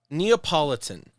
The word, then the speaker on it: Neapolitan: on am I also saying it right is neopolitan the correct word it is it is but you know now I'm thinking about it I mean lemon could be all right Neapolitan Neapolitan Ragu what oh okay yeah refering to